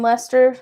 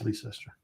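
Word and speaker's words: Leicester: So if you pass the telephone booth in Lester station, you will see where you It's Lester. It's Leester.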